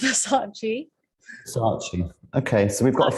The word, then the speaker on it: Versace: currently in london and i think versace should be pronounced versace okay so we've got